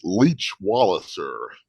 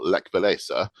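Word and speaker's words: Lech Wałęsa: But as the Americans would pronounce it, Leech Walliser, or Lech Walesa, took the oath of office to become the president of the newly democratic Republic of Poland.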